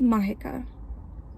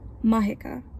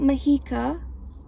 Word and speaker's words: Mahika: So let me make it really clear over here. My name is Mahika. Mahika. Not Mahika, Mahika. And I would appreciate it if you took the time to pronounce it correctly.